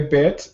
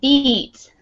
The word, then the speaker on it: beat: can you feel the beat ok you can you feel the bit notnot bit because that would be like if I if I bite